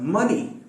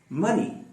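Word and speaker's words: money: फिर मनी, मनी, मनी में फिर से वही आएगा उल्टी वी वाला, यानी साउंड के बाद, और आखिर में यानी बस दो ही इसमें वावल साउंड होंगे। एक होगा जो उल्टी वी की शक्ल में आएगा, फिर उसके बाद ई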